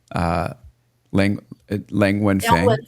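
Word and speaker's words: Liang Wenfeng: to see what's happening with the DeepSeek founder, Lang Wenfeng. Am I pronouncing Yeah, it?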